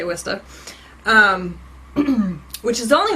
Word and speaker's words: Worcester: saw i'm laughing because nobody can pronounce worcester if they're not from massachusetts it's spelled like worcester but we say wista um which is only